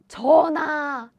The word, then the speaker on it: 전하: 전하, 전하. It means Your Majesty. So in historical Korean drama, right? The pronunciation is actually same. 전하, 전하.